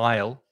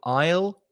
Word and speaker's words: aisle: And the pronunciation, if you think of the contraction of I and will together, yeah. aisle, that's exactly the same pronunciation. Again, another silent letter, the silent S. So I will, aisle is the pronunciation.